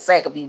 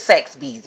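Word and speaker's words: Saxbys: My daughter be talking mom you be saying but I call it sack of bee but I call it sax be well it's sax bees.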